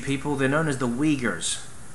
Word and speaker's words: Uyghur: Now the Urumqi people, they're known as the Uyghurs. It's difficult to pronounce. It's like, it's difficult to spell. It's like U-Y-G-H-E-R. It's not spelled the way it sounds.